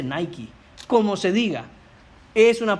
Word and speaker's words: Nike: Qué palabra es esa es la palabra niques de ahí viene la marca de zapatos nique hermano se dice Nike como se diga es